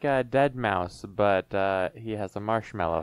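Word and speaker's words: deadmau5: He's like a dead mouse, but he has a marshmallow head I instead, always thought right? that was Dead Ma. No, it's Dead Mouse.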